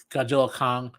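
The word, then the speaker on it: Godzilla x Kong: I have two things about Godzilla, Godzilla Kong. The way to say that, by the way, is just don't pronounce the X.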